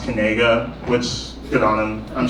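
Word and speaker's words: Knigga: g g a and he insists pronounced kega which good on him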